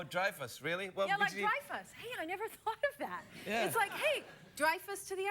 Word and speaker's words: Dreyfus: name Julia Louie Dreyfus it's not Dreyfus Dreyfus yeah like drives a car but Dreyfus Oh drive us really drive us to